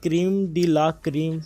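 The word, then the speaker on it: crème de la crème: Question number 9, what डज क्रीम डी ला क्रीम mean? Okay, क्रेमे डी ला क्रेमे भी कह सकते हैं आप, जैसे इसको प्रोनाउंस करना चाहें।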